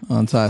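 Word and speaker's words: Anhthai: On Ty, spell it for the people.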